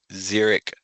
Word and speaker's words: xeric: Xeric, the root word for xeriscaping, is Greek for dry, and it makes my job a lot harder that xeric rhymes with zero.